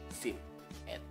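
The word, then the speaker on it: สิบเอ็ด: Jadinya kelas menengah mati berarti siang E. Jadinya sip et.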